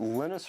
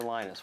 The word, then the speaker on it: Linus: Linus or Linus? What's your preferred pronunciation? When I speak Swedish, it's Linus. When I speak Finnish, it's Linus. When I speak English, it's Linus. And I really don't care how people pronounce my name.